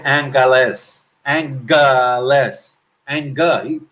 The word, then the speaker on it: Angeles: web page he said Angeles and less and good pronounced with a G so if the mayor